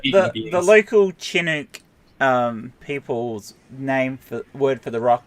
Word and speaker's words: Chinook: It's pronounced Chinook, by the way.